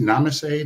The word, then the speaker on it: namaste: Well, how do you say namaste?